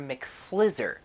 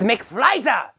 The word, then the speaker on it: McFlizer: Do you think you can do anything for it, Professor McFlizzer? It's McFlizer!